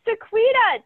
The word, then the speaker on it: Sequena: move forward all right sequita tell us about yourself hello my name is you pretty much pronounce it i always tell people it's like sabrina with a queue so it's easier to